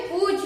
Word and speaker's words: पूछ: video जरूर देखिएगा दोस्तों यहां पर चंद्र बिंदी लगी हुई है यानी कि यह अनुनासिक है यानी कि हम इसे पढ़ेंगे पु यानी कि इसमें